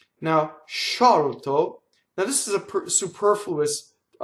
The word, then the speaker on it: sciolto: this case, you'll get the double consonant of sciolto, sciolto, which means loosen in Italian. Sciolto. Notice the L sings into the T.